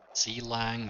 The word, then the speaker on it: Clang: CLang or Clang, or however you want to pronounce it, is a linker to the compiler.